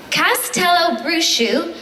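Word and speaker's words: Castelobruxo: and by the way this is phonetically spelled so I'm definitely pronouncing it correctly Castello bruu in Brazil hidden deep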